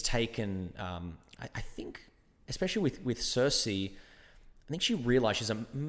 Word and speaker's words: Circe: I do know that there is actually there's a book that I read called Circe, or we would pronounce it Kirki, which is based off